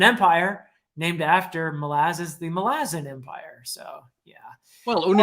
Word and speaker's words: Malazan: you remember that uh my pronunciation of malazin which I in my older videos anyone can hear me say uh Malazan which is a common enough pronunciation and I apologize and I realized that it's like Rome is Roman milaz the island where it all got started melasin right that's just the the adject adjective form of malaz right melazzin